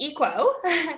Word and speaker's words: Equa: I started Equa, which is how we pronounce it, but you can pronounce it any way you'd like.